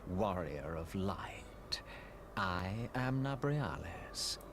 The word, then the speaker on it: Nabriales: I am Nabriales. Narbalas is actually the pronunciation, my And bad.